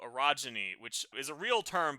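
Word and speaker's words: orogeny: Just to be clear, Broken Earth has a magic system called arogyny, which is a real term, but sounds a little bit inappropriate. It's spelled O R O. Yes, it's only when you pronounce it, but it's a real geological term.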